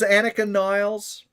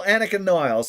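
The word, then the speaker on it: Anika Nilles: It's still Annika Niles. That's the way it's pronounced.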